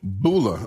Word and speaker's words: bulla: So, this word is called bulla, or or b u l l a. You want to pronounce it how you pronounce it?